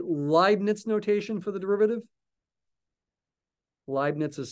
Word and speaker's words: Leibniz: Leibniz is spelled L-E-I-B-N-I-Z. German, I think, Leibniz. E before I is an I sound in German.